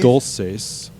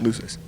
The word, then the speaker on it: Luces: Dulces. How did he pronounce it? Sam's Los Luces. Yeah. Luces.